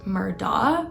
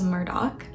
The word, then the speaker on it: Murdaugh: started is that Murdoch looks like it should be pronounced Murda but it's not it is Murdoch and to make things